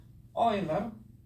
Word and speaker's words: Euler: Nah, sebelum saya tunjukkan, saya harus bilang bahwa menurut standar matematika sekarang, apa yang dibuktikan oleh Euler, ini bacanya Euler ya, meskipun hasilnya benar tapi tidak memenuhi standar keketatan bukti yang dituntut oleh matematika zaman sekarang.